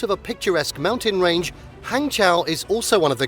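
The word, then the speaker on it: Hangzhou: pronounced hangchow hangchow is the capital city of the province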